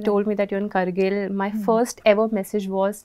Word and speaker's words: Kargil: I used to call it Kargil, but when I visited there and then I figured out that it's Kargil. It's not Kargil, it's Kargil.